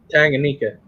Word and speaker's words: Tanganyika: something like that no you said it right Tanganyika oh okay John hope you have a good